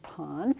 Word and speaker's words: Pan: and so this is called the cave of pon and if you look very carefully you're gonna